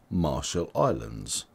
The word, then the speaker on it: Marshall Islands: over 60 000 people in 2022 and you pronounce Marshall Islands like this Ma shul I learns ma shall I learns Marshall Islands subscribe for more videos from English language training